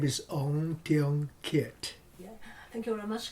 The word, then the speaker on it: Teong Kiat: My full name is Teong Kiat. Yeah. Thank you very much. Can you spell it for me?